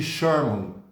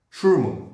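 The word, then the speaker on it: Scheuermann: perigoso que a gente chama de doença de charman charman eu não sei se é essa pronúncia mesmo schurman Desculpa doença de schurman certo a pronúncia correta é doença de chama bom nós temos as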